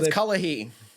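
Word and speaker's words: Cullowhee: you if that is that's kalahi that's how they pronounce it pittsburgh at least right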